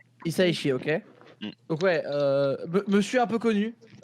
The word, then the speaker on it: Hisaishi: il y a Joe Hisaishi, je pense que c'est dit comme ça. Hisaishi, je ne sais pas. Alors, en japonais, t'as tendance à tout prononcer, donc Isaishi. Hisaishi, ok.